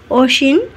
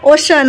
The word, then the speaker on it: Ocean: আমার গুরুদেব এই যে ওসিন বলে আবার আমার ওসিনটা উচ্চারণ হয় না ওশান ওশান ওশান ওসিন বলে ফেলছি ওশান তো এই যে